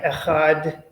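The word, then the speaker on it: אחד: listen carefully um right we have Ahad with the dalit the D sound at the end for the masculine and then for the feminine it becomes ahat it's hard right right exactly right and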